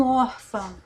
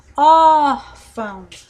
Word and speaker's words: órfão: Então, essa palavra, a sílaba tônica dela é or, então é uma palavra paroxítona. O mesmo se dá com órfão. Órfão.